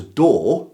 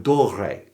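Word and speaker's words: Doré: One mistake I make in this video all the way through is I keep mispronouncing an illustrator's name as Dor instead of Dore.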